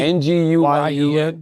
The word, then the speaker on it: Nguyen: Is it Nguyen? It's a Vietnamese name. N G N G U Y E N Nguyen is closest, yeah.